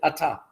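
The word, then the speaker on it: אתה: We pronounce it ata, even though it's spelled at.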